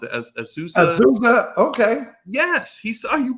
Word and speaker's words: Azusa: I was like a freshman when he was a senior and playing at, I can't pronounce it, Azusa. Azusa, okay.